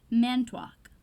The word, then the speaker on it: Manitowoc: So when Deke asks Coulson where he's from, Coulson replies, Manitowoc, Wisconsin, pronouncing it Manitowoc, or Manitowoc, or however the fuck. Someone born there, or native to most of Wisconsin, would pronounce it Manitowoc.